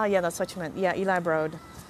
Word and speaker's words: Eli Broad: scenes not pronounce the broad you know what Eli Broad is pronounced broad not broad it's eli broad yeah so there you have it guys the